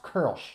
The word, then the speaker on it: Kölsch: the two dots that's an umlaut L SCH pronounced curl SH not kölsch the first beer is from Exhibit